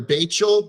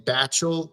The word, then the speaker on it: Bachel: I've been calling her Bachel because it's spelled like that, but it sounds like they're saying Batchel like uh like Satchel but with a B. Um spelled like Rachel but with a B instead of R.